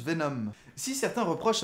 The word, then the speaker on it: Venom: Emma Frost ou même Venon ah non ça se prononce Venom si certains reprochent à